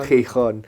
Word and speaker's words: Gijón: So, Gijón. Perfekto, Gijón. Gijón. Das gibt's ja auf Englisch, dieses Ch nicht. Ich versuche das einfach nachzumachen. Ich höre, dass es Gijón heißt und dann denke ich, okay, ist Gijón.